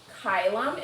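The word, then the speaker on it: caelum: Chylum is sky. Remember the C is always pronounced like a K.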